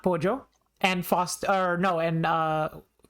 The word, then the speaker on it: pollo: why are like like the Spanish word instead of like just oh that's right that's pojo yeah whoops how do you pronounce it pojo okay yeah pojo there's